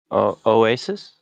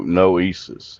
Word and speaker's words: Noesis: Oasis? No, Noesis.